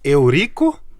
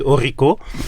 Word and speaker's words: Eurico: D'une manière très simple, je suis Eurico. Voilà, ça se prononce Eurico. Mais j'accepte Eurico.